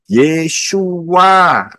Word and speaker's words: Yeshua: harus menyatakan yang benar yang benar itu adalah Yod Shin wa Ayin yesua ya yesua ya Dan